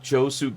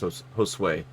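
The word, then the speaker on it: Josué: It's pronounced Josue. Josue. Oh, there's a W in there? Well, it's a U.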